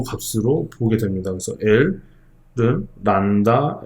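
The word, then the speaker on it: λ: 그래서 L은 란다 S, 요걸 란다라고 읽어요. 그리스입니다.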